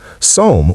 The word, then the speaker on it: psalm: Psalm with a silent P from Greek.